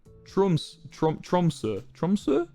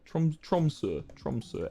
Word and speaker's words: Tromsø: Tromsø. How do you pronounce the O with a line through it? Tromsø.